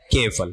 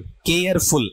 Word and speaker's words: careful: केफल। केयरफुल ऐसा नहीं है। के बाद में आधा ए, फिर फे, फिर ले, केफल ऐसा पढ़ा जाएगा, ठीक है।